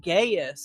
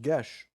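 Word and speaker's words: geas: jerkface decided to cast gaius on a military leader which we've since learned is actually pronounced gesh so is i i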